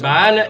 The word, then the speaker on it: Baal: Jésus a parlé de Baal, nous disons que Baal est la bonne prononciation.